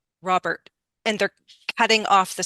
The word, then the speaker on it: Robert: pronounce these was you can say a true T just but not a lot of T not a lot of what we say aspiration don't use Robert but the T can still be there Robert quietly but a